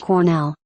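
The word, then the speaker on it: Colonel: it was spelled wrong, even pronounced the L. I quietly told her that it's spelled correctly and I wouldn't pronounce it that way out loud in public. It's pronounced Cornell.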